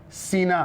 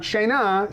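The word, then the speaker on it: שנאה: Sina. How do you spell sina? It's a tricky one. We'll say si-na. Not shena, sina. Oh, I'm sorry, what's the aleph, right? Sina.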